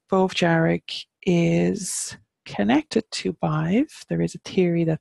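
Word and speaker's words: Badb: we have five and you will hear vibes name pronounced above sometimes and for me it's five so the reason is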